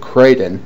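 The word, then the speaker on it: Kraden: Apparently, they've been training with this old guru-type guy called Crayton, rhymes with Raiden, and for some reason,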